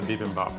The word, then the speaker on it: bibimbap: how to make, which is, I can never pronounce it right. The tempura part or the bibimbap part?